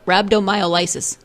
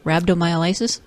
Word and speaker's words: rhabdomyolysis: okay I'm gonna try rhabdo Milo's Mile nope rhabdomyolysis yeah that sounds better what Ken said I think there's more syllables in there than I read or initially rhabdomyolysis let's go with that yes fancy sounds good